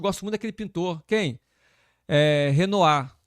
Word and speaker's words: Renoir: Renoir. Eu falei Renoir. Aí o cara, não, é Renoir que fala. Não, mas tá escrito lá Renoir. Não, mas ele é francês, é Renoir.